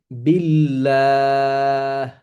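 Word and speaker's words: بالله: আল্লাহ শব্দের এই লাম আল্লাহ শব্দের লামের পিছনের হরফ হচ্ছে বা এই বা এর নিচে আছে জের তাহলে তার উচ্চারণ হবে বিল্লাহ বিল্লাহ আশা রাখি আপনারা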